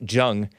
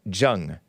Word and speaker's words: Jung: Alex Jung, and he's an Asian. I don't think it's pronounced Young for his sake.